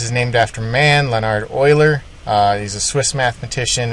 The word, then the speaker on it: Euler: historical note this is named after man Lenard Oiler uh he's a Swiss mathematician extremely talented the name Oiler is pronounced just like that Oiler it's not uler don't say uler okay it's boiler okay remember